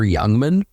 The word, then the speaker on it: Jungmann: Pick number 12, Taylor Youngman. Okay, that's a footy name. I mean, it's spelled Jungmann. If it was spelled like young man, then absolutely.